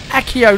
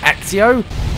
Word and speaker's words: Accio: it right there hey why are they pronouncing accio weirdly it's accio not axio no not like that